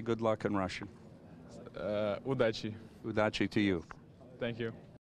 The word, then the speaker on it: Удачи: Удачи.